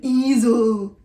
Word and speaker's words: Ezel: And when I first saw that written down, it's spelled Ezel, and I was like, okay. And then when I finally said it out loud, I was like, oh my god, an easel.